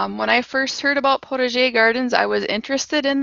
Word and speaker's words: potager: some background information on Protege gardens that is as close as I'm going to get to the French pronunciation sometimes English pronunciation we just say pottage gardens or potted your gardens we're going to discuss